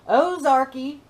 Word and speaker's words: Ozarka: Because we have Ozarka sparkling water. That's how they say it around here. Ozarky sparkling water.